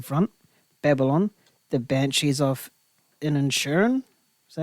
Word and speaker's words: Inisherin: So the nominees for this one was All Quiet on the Western Front, Babylon, The Banshees of Inisherin. Is that how you say it? Inisherin.